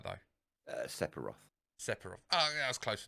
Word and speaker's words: Sephiroth: Now, I may get this geezer's name wrong. Right. What is Setharoth's sword called? Masamune. Okay, did I say his name right, though? Sephiroth.